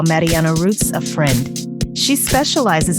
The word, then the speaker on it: Marianne: is episode 4 how Mariana Roots helped a Furniture Company exceed their target Revenue my name is Mariana roots and it's actually pronounced Marian the German Way kind of a bit